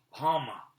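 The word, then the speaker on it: homme: a piece of bark he learned from diorno that it was pronounced hama and in the same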